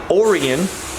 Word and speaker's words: Orion: had a brother named orian that's Orion but pronounced weird and Henry who lived